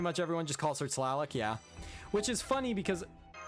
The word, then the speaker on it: Tlaloc: to pronounce it properly because T and L do not go together at the beginning of a word for conventional English. Much less doing T-L-A-L, Tlaloc.